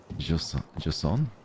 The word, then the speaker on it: Jusant: Just don't pronounce the T. Thank you, Mary. Jusant?